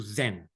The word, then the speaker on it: Zen: were taken to China the word Diana became Chan when the Chan teachings were taken to Japan the pronunciation was changed to Zen so when you hear